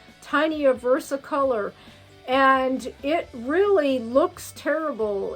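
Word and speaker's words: tinea versicolor: but it's like um it's spelt t-i-n-e-a versa color they call it tiny a versa color and it really looks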